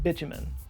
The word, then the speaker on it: bitumen: mistranslation of the word bitumen. Bitumen, or bitumen, I've heard it pronounced both ways, it's basically the same as asphalt.